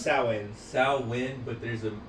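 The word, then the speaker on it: Samhain: a lot of movies get it wrong they pronounce it Sam Hayne and it always annoys the out of it what is it salmon s s it's pronounced sin sawin but there's an m in there yeah it's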